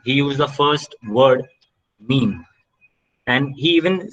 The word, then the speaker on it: meme: So he even wrote in his book that it should be read in a rhyme of cream.